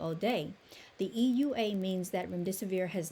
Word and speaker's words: remdesivir: No, it is remdesivir. You pronounced it absolutely correctly.